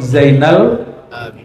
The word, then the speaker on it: Zainal Abidin: Kenapa Ali bin Hin disebutal Abin yangat Gimana bacanya mislu zainil Abidin gitu ya Kenapa Ali bin Husein bin Ali disebut Zainal Abidin sehingga menjadi nama favorit di Jawa betul enggak